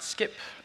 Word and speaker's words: Scipp: today about our project we pronounce it skip you can come and